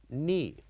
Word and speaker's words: knee: Also, other example, which is knee. So here in this word, we wrote K, N, and double E. And when we say it, we pronounce it as knee, knee. So the K here is silent.